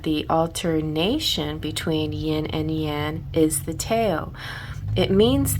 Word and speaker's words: yang: So, the concept of yin and yang, and it's pronounced yan, as I've been corrected before. I was calling it yang, yang, yang, and somebody said, nope, that's not how you pronounce it. And I'm like, okay, I will look that up, and they were right. It is yan, so there you have it.